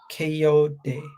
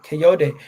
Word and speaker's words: Kayode: Kayode. That's how you pronounce it. Kayode.